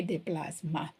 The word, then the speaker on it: déplacement: So meant, déplacement, but we don't pronounce the T, okay, déplacement, okay.